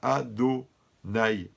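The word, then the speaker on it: Adonai: vav et le he, mais on doit prononcer ado. Quand on fait la bracha, on dit baruch ata ado nai, d'accord.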